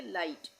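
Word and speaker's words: light: जी एच का उच्चारण नहीं होगा। इसको हम पढ़ेंगे लाइट।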